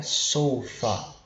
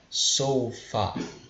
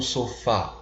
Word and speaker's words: sofa: E a pronúncia do inglês vai ficar muito mais focada no O, né? Sofa. Então é como se a sílaba tônica ela estivesse na primeira sílaba, né? Então a gente pronuncia sofa e não sofá, parecido com o português, tá? Sempre sofa. E aqui a gente tem,